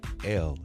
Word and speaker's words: Levesque: Levesque. Levesque. There is an S in there, and as Mr. Levesque explained to me, the S is silent.